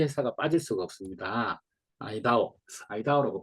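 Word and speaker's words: IDEO: 아이다오라고 발음하는 게 아이디오라고 발음하는 게 맞는 것 같은데요. 아이디오, 세계적인 디자인 컨설팅 회사예요.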